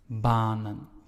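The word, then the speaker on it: banen: So the first vowel, in this case A, is pronounced long, and that is why we say baanen.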